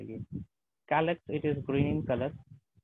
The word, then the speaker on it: calyx: क्या प्रोनाउंस करेंगे इसको, कैलेक्स।